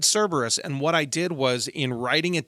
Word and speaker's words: Cerberus: you I was wrong the hell Hound's name is Cerberus not serbus Cerberus and for those of